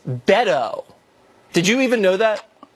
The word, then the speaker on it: Beto: wrong from the jump it's Beto O'Rourke not bado it's Beto did you even know that I did I was on committees with Beto and he Beto decide whether or not